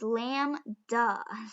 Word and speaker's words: lambda: a key word and we just write lambda and it's lamb duh so don't spell it wrong lamb duh right and so we're